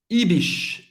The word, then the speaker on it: Ibis: Ibis. Ibis, hotel. Ok? Ibis. O S no final vai ter um som do S mesmo. Ibis.